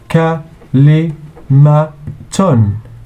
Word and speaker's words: كلمة: كاف plus lam plus mim plus ta equals كلمة. كلمة. And the plural is like this: كلمات. مهارة مهارات. كلمة كلمات.